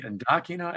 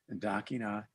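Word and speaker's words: Ndakinna: The Ndakina Education Center, which no one ever can pronounce, but it's N-D-A-K-I-N-N-A, Ndakina Education Center.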